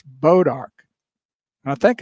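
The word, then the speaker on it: Bois d'Arc: It's not Bose Arc. What? B O I S D A R is not pronounced Bose Arc. It's proned pronounced Bodark. It's a French name just like her.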